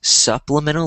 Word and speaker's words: supplemental: said supplemental um so sounded like soup but it's pronounced supplemental like s like supplemental